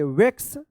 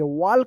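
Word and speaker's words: walk: वैक्स यू पी अप ई ए आर एल वाई।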